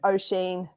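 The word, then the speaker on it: Oisín: And the only one I know how to pronounce, Dave, is O'Sheen. So it's O'Sheen. Because I knew a little boy called O'Sheen.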